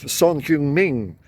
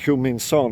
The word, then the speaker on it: Son Heung-min: I looked it up the other day, because I keep on saying Heung-min Son, and I think that's the wrong way around. So I'm going to say Son Heung-min unless someone corrects me,